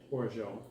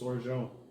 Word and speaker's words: orgeat: Orgeat. Is that actually pronounced? There's no U. Google it. It's orgeat.